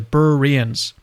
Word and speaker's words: Berean: What's the right way to pronounce Berean? Is it Bereans? There it is, Bereans.